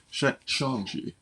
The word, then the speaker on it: Shang-Chi: Shang-Chi, excuse me. Been mispronouncing it all these years.